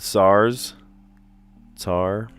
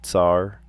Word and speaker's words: tsar: Old Russian rulers. The SARS tar that's a tough one to say tsar language that's the third